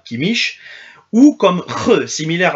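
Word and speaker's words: Kimmich: et sûrement pas sweinsteiger le C quant à lui peut se prononcer h un ch collé contre la langue comme chez Yoshua Kem ou Yoshua kimich ou comme re similaire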